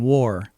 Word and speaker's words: Waugh: I've also learned that I don't pronounce his name correctly I say Ian wah but it is Ian War so thank you for